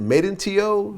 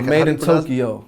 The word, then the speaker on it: MadeinTYO: How do you pronounce it? Is it MadeinTYO? Nah, MadeinTYO.